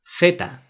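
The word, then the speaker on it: zeta: And finally, the letter Z, theta. In Spanish, we say theta.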